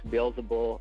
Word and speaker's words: Beelzebul: There's two pronunciations. There's Beelzebul and Beelzebub.